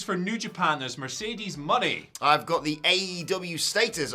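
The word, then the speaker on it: Moné: uh I thought it was going to be Monet for some reason yeah it was pronouncing money so that's that's cool but yeah she showed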